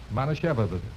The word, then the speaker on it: Manischewitz: Now, let's break it up into syllables and work on it. Okay. Now, look. Repeat after me. Mana Mana Shevitz. Shevitz. Mana Shevitz. Manischewitz.